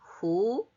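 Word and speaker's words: הוא: 영어에 똑같이 he가 he 되면 좋은데 he는 who라고 읽습니다. who.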